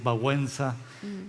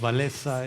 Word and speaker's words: Wałęsa: Y cuando hablas de solidaridad y dices Wałęsa y nosotros decimos Walesa.